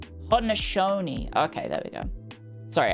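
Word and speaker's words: Haudenosaunee: But I don't know Is it Oh, let me have a go at pronouncing it. It's Ho-de-no-sau-nee? Iroquois Confederation, Ho-de-no-sau-nee. Ho-de-no-sau-nee.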